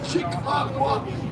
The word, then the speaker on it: Chicago: Original pronunciation Che-caw-go.